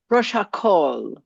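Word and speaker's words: ראש הקהל: Rosh Rosh. HaKol. And you just make it a long call. Rosh HaKol.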